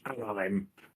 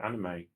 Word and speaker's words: anime: They were afraid that American fans wouldn't understand that they don't have hard vowels in Japan. So therefore, it would be pronounced as anime.